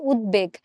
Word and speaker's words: উদ্বেগ: option B চিন্তা করো আমরা কিন্তু উদ্বেগ বলি না এই শব্দটার শুদ্ধ উচ্চারণ হচ্ছে উদ্বেগ যে আমি বর্তমান পরিস্থিতি দেখে খুবই উদ্বেগ প্রকাশ করছি বা আমি উদ্বেগ প্রকাশ পাচ্ছি আমার হচ্ছে তার মানে আমরা এখানে উদ্বেগ বলছি উচ্চারণটা আসলে আমরা এরকম করে করছি উদ তারপর হচ্ছে বেগ এখন এই বফলার উচ্চারণটা